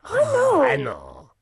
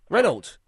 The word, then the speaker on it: Renault: Reno. Reno. Renault. So you're not more Renault. But I say it better than the congestion cuz they they pronounce the T. They say Renault. Renold.